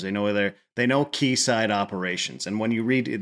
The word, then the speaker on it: quayside: been in there before keyside is spelled quu a y s i d e so if you hear someone say keyside that's what they're that's what they're referring to it